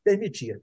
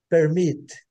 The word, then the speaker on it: permit: aqui é bem simples permitir né gente a Sila forte né portuguesa é a última né permit permit I will permit eu vou permitir Ok